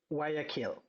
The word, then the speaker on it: Guayaquil: And how do you say the name of the town you're in? Guayaquil? Is that how you say that? Guayaquil. Guayaquil, I totally screwed that up.